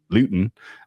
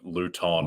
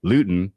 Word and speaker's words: Luton: Yeah, but I believe yesterday you were saying Luton. Luton, yes, Luton, chemical. It's more like Luton, as in rhymes with Juice Newton, it's more on the Isaac Newton side of physics than on the plutonium